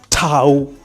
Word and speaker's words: tau: So, after sigma we have what is called tau.